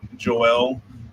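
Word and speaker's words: Xoal: band in from Mexico called Joel it's spelled x o a l and that song is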